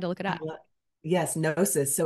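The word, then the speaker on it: gnosis: and I had to look it up yes nois so it's spelled g n o s i s and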